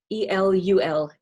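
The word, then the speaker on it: אלול: Oh, and remind me, how do I pronounce this period again? Elul? Elul. E-L-U-L.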